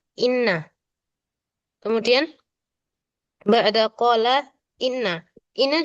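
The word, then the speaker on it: إنّ: Kalau dia di awal kalimat berarti itu bacanya inna.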